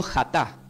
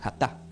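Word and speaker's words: חטא: La palabra pecar del hebreo se pronuncia como jatá, con J, J-A-T-A, con acento en la, jatá.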